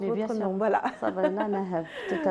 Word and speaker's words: Sabrina Naheb: C'est bien comme ça qu'on prononce votre nom. Voilà. Sabrina Naheb, tout à fait.